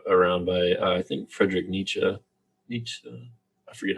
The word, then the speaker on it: Nietzsche: of thought brought around by i think frederick nietzsche i forget how to say his name sorry thank you frederick nichi um and his line of thought is like